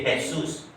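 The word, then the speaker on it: Jesús: Tulisannya Jesus, J-E-S-U, tapi bacanya J-nya bisa baca H, jadi Jesus.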